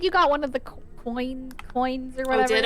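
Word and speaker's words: quoin: It's pronounced coin.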